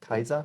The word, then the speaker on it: Caesar: The way the C is pronounced is Latin, Oh, okay. like Kaiser. Oh, okay. You know, Caesar is Kaiser.